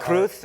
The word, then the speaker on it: Cruz: wosas you know uh kruth and it's not Cruz they pronounce it kruth castillan you speak Spanish